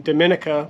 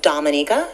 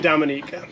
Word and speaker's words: Dominica: to Dominica which by the way I've been pronouncing it wrong I've been saying Dominica because I just came from the Dominican Republic but I've been watching the Olympics and